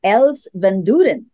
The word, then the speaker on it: Els Vandooren: And with that, I would like to welcome our special guest for today, Els Vandooren. Is that correctly pronounced?